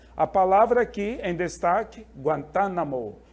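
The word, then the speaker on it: Guantánamo: palavra aqui em destaque guantanamo guantanamo é uma região ali de Cuba é uma divisão de cuba tá a sílaba tônica aparece bem aqui olha tá guantanamo mas depois nós temos ó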